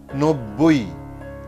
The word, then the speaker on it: নব্বই: শব্দের মধ্যে কিংবা শেষে বয়ের সঙ্গে অথবা ময়ের সঙ্গে যদি ব যুক্ত হয় তাহলে সেই বয়ের উচ্চারণ অবিকৃত থাকবে, অর্থাৎ বয়ের উচ্চারণ হবে।